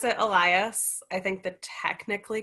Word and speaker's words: Elias: uh so another another great question uh i pronounce it elias i think the technically correct way is to say like elias which maybe your daughter can do if she's